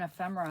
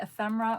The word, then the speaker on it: ephemera: long time ago, and the person pronounced it ephemera, which is how it's spelled, but I'd never heard anybody call it ephemera before. But now when I see the word written, I hear ephemera because that's how it's spelled, but I call it ephemera.